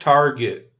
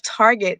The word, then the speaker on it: Target: hey, I'm just saying, if No, you're a true connoisseur of Target, then it's not Target, it's Target. Target.